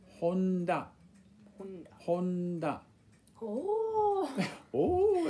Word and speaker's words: Honda: We've got Honda, which is another type of car that Americans drive and mispronounce. Yeah. A lot of these cars are mispronounced. But basically, that's not too bad. Honda, you know, Americans want to say Honda, and Japanese people will